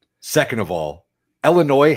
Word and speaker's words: Illinois: Second of all, Illinois has a silent s.